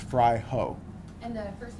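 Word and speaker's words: Fraijo: f r a i Jo o and it's pronounced fry ho and the first name again doer doer and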